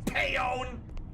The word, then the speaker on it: Pion: Barrel blast developer Pion Pion se he pronounces it Pon I'm all the way